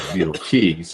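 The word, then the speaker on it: Beidelschies: And I'm glad I finally learned how to pronounce that right. Beetlecheese.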